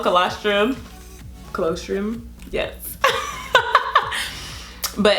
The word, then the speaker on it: colostrum: colostrum am I saying it right yeah called colostrum closed room yes but it's very fatty and